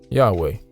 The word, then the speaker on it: Yahweh: a word or name according to Modern Hebrew this is pronounced yehovah or Yahweh or some other rendition the spoken and written